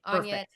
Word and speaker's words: Anja: Um, I wanted to just Anya, verify, I know your beautiful name, Anna. Is it hard J or soft J? You pronounced it perfectly. Anya.